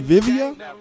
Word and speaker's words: Vivia: now, am I pronouncing that right? Vivia? That it is. It's Vivia. Vivia.